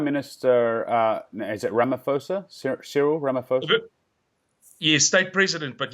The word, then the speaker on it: Ramaphosa: so your Prime Minister is at Ramaphosa Cyril Ramaphosa trip you state president but yes Rama poor sir you don't pronounce the aged Rama pasa okay so Cyril Ramaphosa he referred to the taking of of land